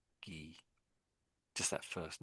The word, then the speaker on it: Guy: A French guy. So So in English that name looks like we say that as guy in English but the French say is G. Gee, just that first name there.